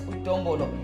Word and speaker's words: Udombolo: But those who love me call me D to the O, M to the B-O, and L to the O. That is pronounced as Udombolo.